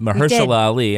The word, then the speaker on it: Mahershala Ali: But I did like the performances of Mahershala Ali and, did I say it right? Mahershala Ali.